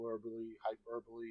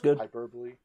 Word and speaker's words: hyperbole: not some marketing hyperb hyperboy how do you say that word hyper hyperbole right that's good we're not we're